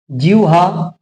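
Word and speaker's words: জিহ্বা: লিখি বয়সই হয় বয় ল তাহলে এখানে একচুয়াল উচ্চারণটা কি বিউহাল জিউহা বিউহাল ঠিক আছে আরেকটা আছে আরো অনেক আছে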